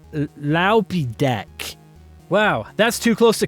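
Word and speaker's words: Loupedeck: It's an all-in-one keypad for streaming and content creation powered by a bunch of Pac-Mans that I'm told is pronounced Laupidek.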